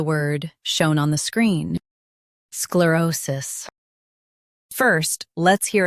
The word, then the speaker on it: sclerosis: In US, stress O. In UK, stress Ro. Sclerosis. Sclerosis.